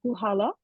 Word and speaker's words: Puchala: have the wrong pronunciation it's um huhala the C is silent and Sam maybe you